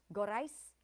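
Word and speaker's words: Gorice: Gorais, gorais on the last syllable, rhyming with thrice.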